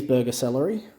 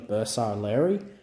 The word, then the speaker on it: Bersaglieri: For those who don't know why I'm saying burger celery, it's a common mispronunciation of Bersaglieri, which is closer to you. I won't say it's the correct pronunciation.